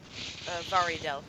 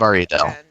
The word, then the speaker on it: Varidel: Varidel is how it's pronounced. Varidel.